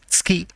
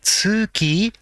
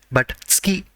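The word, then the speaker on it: つき: it is pronounced as ski it is not su ki ski just add mai to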